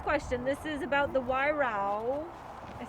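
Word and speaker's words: Weihrauch: This is about the Wairau, I said that right. You guys want to help her? Spell it. No. So this is funny because like Wyra.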